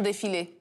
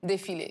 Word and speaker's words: défilé: Prison défilé. Prison? Défilé.